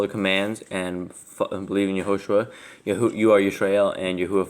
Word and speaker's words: Yahushua: Okay, well, let's just explain that, since we have two different It's Yahushua.